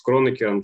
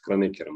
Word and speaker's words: Кронекер: Ну вот, я вам просто говорю, что человека звали Кронекер, поэтому странно называть его Кронекер.